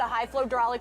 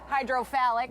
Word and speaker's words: High Flow Hydraulic: the name that we They get a lot of different pronunciations of their sponsor name, but their favorite and most hilarious one is hydrophalic, so that's a little bit of fun. But it's high flow hydraulic is the name going of the up the pond.